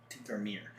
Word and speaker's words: Tinkermere: Tinkermere. It's still pronounced Mere.